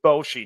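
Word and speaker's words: Boschee: Jeff Bosshi.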